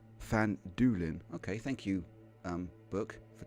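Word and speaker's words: Phandalin: the nearby human town of fanned Allen pronounced fan Doolin okay thank you book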